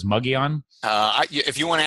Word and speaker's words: Mogollon: I pronounced him it I pronounce emoji on is that that's wrong what you said is muggy on I if you want